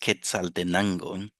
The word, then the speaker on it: Quetzaltenango: It is pronounced Quetzaltenango, and it's in Guatemala.